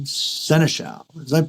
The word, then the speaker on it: Senechal: But not only that, from Vancouver Island, joining us today is Senechal. Did I pronounce that right?